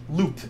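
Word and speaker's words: loupe: Link down below in the description to a 5X loop, L-O-U-P-E is how it's spelled on Amazon, as well as most of the other tools that I'm using.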